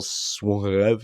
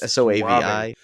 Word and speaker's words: Soavi: Mystery of the Cathedrals interview with director Michael Suave. I don't know how to say his name. It's Soavi.